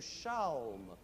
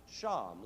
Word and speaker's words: shalm: Then the English, who love to shorten words anyway, changed chalme to shalm, S-H-A-L-M, which can also be pronounced sham, like calm or palm.